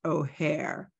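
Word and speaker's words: OHEHR: long-standing attachment to acronyms so it's pronounced O'Hare like the airport in Chicago now that's the office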